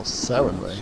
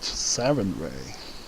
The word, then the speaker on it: Sarenrae: Lady Sarenrae and Erastil walk Oh, Sarenrae. with gods hand in hand, and so must their servants as well. That's how it is pronounced. Sarenrae.